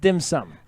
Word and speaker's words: dim sum: It's pronounced dim sum.